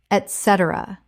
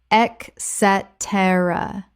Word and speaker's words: et cetera: Et cetera common mispronunciation. Ec cetera correct pronunciation. Et cetera Four syllables with the stress on the second. It begins with et, not ec.